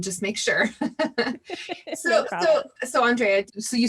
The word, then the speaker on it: Andréa: me because i just realized i may have butchered it that's okay honestly it's my mom being fancy but it's andrea that's what i wondered because so my my